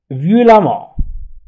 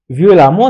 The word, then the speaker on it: violemment: الآن سأمر إلى الفعل exprimer، j'exprimerai هي تكتب j'exprimerai، ولكن عندما ننطق نقول j'exprimerai violemment، سأشرح بعنف.